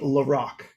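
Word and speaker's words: La Rocque: i was officially corrected king diamond guitarist is pronounced in the larocque so thank you for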